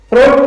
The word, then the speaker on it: fruit: I यहां पर silent है और T से बन गया ट, तो इसको पढ़ेंगे फ्रूट।